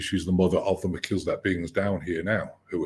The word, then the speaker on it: Melchizedek: They more like human looking, or like because you've had obviously contact with the Melchizedek.